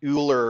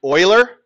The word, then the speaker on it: Euler: But if you haven't heard of this person, it looks like it would be pronounced Euler or something like that, but it's actually pronounced Euler.